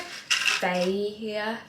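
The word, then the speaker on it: Fage: I think it's like Faye here, but I don't know. It's spelled F-A-G-E, but on the side of it, it's like, it's pronounced.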